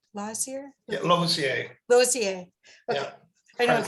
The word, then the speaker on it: Losier: Yeah, Losier.